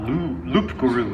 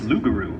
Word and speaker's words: loup-garou: corrects me it's like it's not looked guru it's loup-garou oh sorry yeah that's